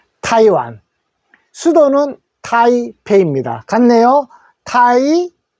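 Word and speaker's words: Taiwan: 타이 1이라고 하면 되고 타이 할 때 타에 크게 읽어주시면 됩니다 타이완 수도는 타이 입니다 같네요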